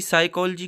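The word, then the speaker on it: psychology: अगर पी के बाद एस है तो पी उसमें साइलेंट रहता है। जैसे कि साइकोलॉजी की स्पेलिंग पी से शुरू होती है।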